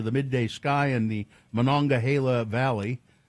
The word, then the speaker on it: Monongahela: The explosion sent black smoke spiraling into the midday sky in the Monongahela Valley. I know how to pronounce that because I lived in Pennsylvania.